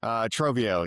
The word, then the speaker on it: Trovio: Trovio. Yeah. It's kind of based on the term of like a treasure trove of information that these creators are giving.